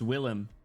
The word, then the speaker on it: Willem: William Dafoe. Fortnite. What's up, Nosame? Is it not pronounced Dafo? Hey, it's Willem.